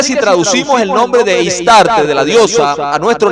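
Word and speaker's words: Ishtar: Así que entramos a otra diosa que se le llama Istar o Istar, se pronuncia Istar, que es la reencarnación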